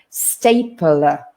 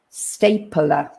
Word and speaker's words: stapler: a bit strange because between the p and the l we have that schwa sound we kind of put another vowel in there stapler stapler stapler and staple all